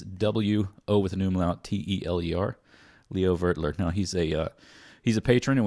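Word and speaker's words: Leo Wöteler: get in touch and make sure that we're pronouncing his name correctly. Yeah. And he did. It's Leo Vertler. Vertler. Yeah. It's W-O with an umlaut, T-E-L-E-R. Leo Vertler.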